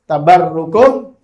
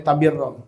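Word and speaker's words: تبركم: Kama fil hadis, sebagaimana di dalam hadis, birru aba'akum tabarrukum abna'akum. Ya. Birru aba'akum tabarrukum abna'akum. Ya, ada yang membacanya tabirro, tapi di sini tabarrukum abna'ukum. Ya.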